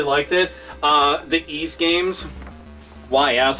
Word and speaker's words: Ys: The East games, YS, a lot of people will go and pronounce it a different way, but it's East.